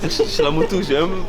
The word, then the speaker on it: Chellamootoo: Même Chilamoutou, c'est Chilamoutou. Même mon nom de famille, je vais pas le Il prononcer.